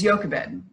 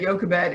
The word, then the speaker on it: Jochebed: this mother's name is Jochebed. That first part of her name, the part that says Yo, in English it's a J-O, but it's pronounced Yo, is actually part of the Hebrew name for God.